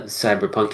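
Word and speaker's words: CBR+PNK: go back to the cyberpunk entries on our list previously is a game it's called I'm going to pronounce it cyber punk but it's spelled CBR plus PNK it is a small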